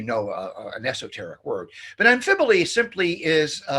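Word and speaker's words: amphiboly: Amphibole. That's how you pronounce it.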